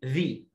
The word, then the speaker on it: the: ذا ده حرف مركب بنطقه ذا، وليه نطقين، يا اما اقول ذا يا اما اقول ذي. امتى اقول ذا وامتى اقول ذي؟ اقول ذا لو الكلمه اولها حرف ساكن فبقول ذا عادي جدا جدا.